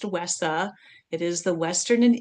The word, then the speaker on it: WESA: Okay, a little bit about WESA and you will hear there are some people that call it WISHA. It's not how they pronounce it. It is pronounced WESA.